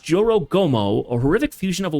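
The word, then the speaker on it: Jorōgumo: Pronounced Joro Gomo, a horrific fusion of a woman's torso with the lower body of a spider.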